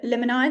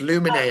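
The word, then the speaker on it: Luminae: So I think this is meant to be Limini, the restaurant. Is that how you pronounce it? Yeah, it's Lumine actually, but don't Lumine, worry, I sorry.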